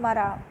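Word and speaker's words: Marat: the revolutionaries journalist John Paul मारा, T silent भाई, commented on his newspaper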